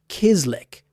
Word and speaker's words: chislic: South Dakota chislick garlic steak bites. Start with the easiest dinner on this entire list. Out in South Dakota, there's a dish called chislick. It's pronounced kislick, and it's simply cubes